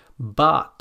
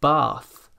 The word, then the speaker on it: bath: The most common mispronunciation here is to pronounce this sound as a d or a t, like ting or ding for thing, bat or bad for bath, or dif or tief for thief.